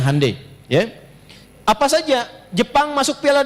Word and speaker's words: Hyundai: Yah Hyundai saya tahu bahasanya dibacanya Hai ya.